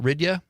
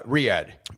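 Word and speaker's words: Riyadh: Is it Rya? Uh, Riyad. Riyad. Okay. I was looking at it phonetically.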